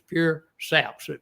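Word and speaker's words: pursaps: They spell it all together, but it's pure saps.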